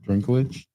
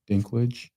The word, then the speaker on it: Dinklage: Drink uh how do you say his name Drinklage Dinklage from Game of Thrones has become but Peter definitely Dinklage Yeah, definitely War Davis is is among the